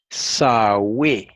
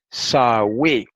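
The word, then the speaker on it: Σαυη: Sawe. Y se pronuncia así, como está escrito aquí en español. Sawe.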